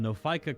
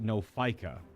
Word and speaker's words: Nophica: Well, the comments about how Lady Demetress crawled so that the Nophica could run make sense now.